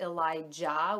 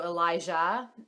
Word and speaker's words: Elijah: with Elijah is that some people pronounce it Elijah with like a hard J and we liked it with the softer J sort of like in like Jal if you speak French so Elijah um and I know